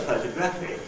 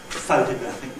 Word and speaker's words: photographic: So the only place we've got it to shift it to is there, which is why we end up with the main stress in the word photographic in this phrase here, photographic memory.